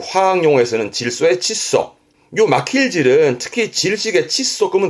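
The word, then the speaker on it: 窒素: 발음은 칫소. 그 화학 용어에서는 질소의 칫소.요 마킬질은 특히 질식의 칫소 끄면 될 거 같고요.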